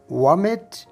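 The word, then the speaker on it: vomit: वॉमिट या वोमिट, आप इस लफ्ज़ को दोनों तरह से प्रोनाउंस कर सकते हैं।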